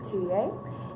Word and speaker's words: Touye: Anyways, hi, my name is Touye, and it is spelled Tellier, but if you ever say that to my face, I will hurt you because I'm French, and that's not how we say it, so thanks.